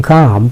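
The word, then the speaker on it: calm: সেই কাম ডাউনে যে কাম সেখানে কিন্তু এল এর উচ্চারণটা হয় না।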